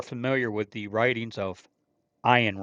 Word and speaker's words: Ayn: Those who are familiar with the writings of Ayn Rand or Ian Rand, however you want to pronounce her first name, It's Ian.